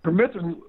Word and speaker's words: permethrin: It's called permethrin. Am I pronouncing?